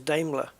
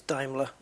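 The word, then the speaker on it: Daimler: talk I I used I've spent all my life pronouncing diimler as damler yeah oh the new damler have you seen the new damler turns out it's dier there you go it's uh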